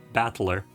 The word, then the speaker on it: Battler: Japanese letters is made out of the characters for fight and person, and it's pronounced Battler.